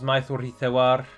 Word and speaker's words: Maithorithewar: Someone asked, how do you pronounce Maithorithewar? And you pronounce it exactly like that.